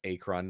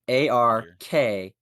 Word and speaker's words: Arkhan: that would be horrible that's acron not to be confused with archon yeah